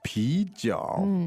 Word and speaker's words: 啤酒: pijiao. Now, the tones there are Second and third. good, second and third. Let's hear that again. 啤酒。啤酒。 Stop saying that, Jenny. You're making me thirsty. I know. Pijiao.